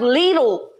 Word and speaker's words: Lidl: Oh, it's pronounced Lidl.